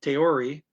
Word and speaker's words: theorie: Okay, so following his eigen means own, following his own theory, theory is spelled with TH, but Dutch people don't say THs, they say a T when they say a TH, so theory.